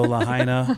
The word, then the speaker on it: Lahaina: but I noticed that yeah good job so Lahaina um I'm Maui and then uh Great Falls